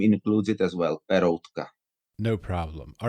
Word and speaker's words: Peroutka: When I pronounce it Czech, it sounds slightly different. But I think in English, Peroutka, that's the name I usually pronounce.